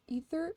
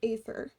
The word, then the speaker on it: Aether: Is it pronounced ether? I pronounce it like aether.